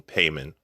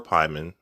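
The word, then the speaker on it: Paimon: having titles used is king payment or pyman i've heard both pronunciations used and i've used both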